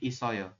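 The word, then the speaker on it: 있어요: sini menggantikan i ya makanya dia di bahasanya bukan it Oyo tapi dibacanya berubah menjadi isoyo ya seperti itu I Oke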